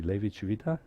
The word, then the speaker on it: Levi-Civita: Levi Civita? Yes? Civita, okay. So you should put it in the emphasis on the first. Civita, okay. Levi Civita.